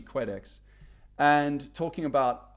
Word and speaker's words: Quedex: Previously, I was pronouncing it Qdex, but it's actually Quedex.